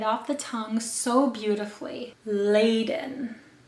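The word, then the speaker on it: Ladon: and rolls right off the tongue so beautifully laden laden is felt l-a-d-o-n and is predominantly used for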